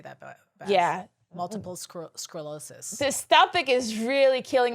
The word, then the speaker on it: sclerosis: end up bleeding too try to say it like scroll like i'm reading a story oh scrolls oh i see it multiple sclerosis oh i like it